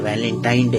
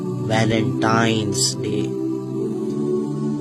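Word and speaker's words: Valentine's Day: नाम पर गौर करें इसे जो आम कहा जाता है यह वैलेंटाइन डे है लेकिन हकीकत में जो इसका प्रोनाउंस एशन है वह है वैलेंटाइंस डे य वैलेंटाइन वाला दिन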